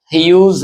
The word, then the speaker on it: Hughes: टेड ह्यूज है ये। इसकी प्रोनाउंसिएशन इस प्रकार होगी जैसे news views use like that.